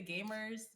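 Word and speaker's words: Gamhers: gamers which i'm you might hear me say gamers which is how it's actually pronounced but we could emphasize the h uh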